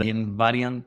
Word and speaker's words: Invariantes: Mathematics and whatnot and in Varian this is the Spanish pronunciation for the term invariance which is a property